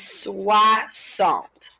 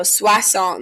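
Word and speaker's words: soixante: end of it so 60 in french is swa salt and it can be a little bit hard to spell in the beginning but it follows that same pattern of the last couple numbers so swa song this is like swah salt okay so over here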